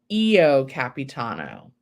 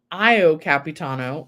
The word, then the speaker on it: Io Capitano: would you say that title and he said EO Capitano like the I is a e and in